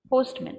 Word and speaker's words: postman: host man no sportsman postman so that is a linking sound i have joined two words here i joined post plus man so my short vowel ah became a schwa postman this is a